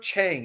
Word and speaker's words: Chang: chain chang beer no it's not Chang it's Chang is it say it properly that's it sorry tongue yeah the eye in um Thai language is pronounced the same as in the Italian alphabet so anyway nice yeah